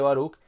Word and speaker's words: Baruc: la época como el apocalipsis de baruc que se pronuncia así en una de sus